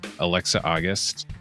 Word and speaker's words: Alexa August: So we're really happy to be joined today by two of our colleagues, Alexa August. Am I saying it right? Yes.